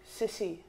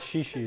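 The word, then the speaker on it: 谢谢: Sissy. It's shishi, isn't it? Shishi. Isn't that how you say it?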